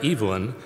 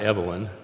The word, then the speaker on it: Evelyn: attentions to the novels of the British writer Evelyn, and it's not Evelyn, Waugh, and Waugh is spelled W-A-U-G-H, like our old science building.